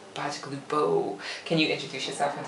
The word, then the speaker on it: Bacigalupo: This is Tony B is what we call him, but Tony Bacigalupo. Did I say it right? Yeah, okay. Bacigalupo. Bacigalupo.